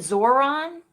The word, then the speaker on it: Zohran: Is it Zoran? Zoran. It's such a, because not being able to pronounce his name is like part of it, right? That's like part of the appeal. Zoran. Is that it? Zohran.